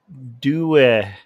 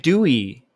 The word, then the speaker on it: Dewey: Oh, Dewey. Dewey, not Dew.